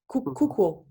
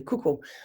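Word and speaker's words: 空港: Yes, pronounced in Japanese is pronounced Kuukou. Kuukou. I don't think I can even say it properly. Kuukou.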